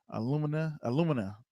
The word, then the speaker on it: alumina: If I'm saying it right, alumina. That's how you say it, alumina.